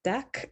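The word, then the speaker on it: Deque: curl has also used deck i think is how you pronounce it d-e-q-u-e dot-com they have something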